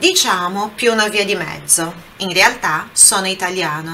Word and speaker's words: mezzo: Olha a pronúncia ali do Z, Z, mezzo, mezzo, ok?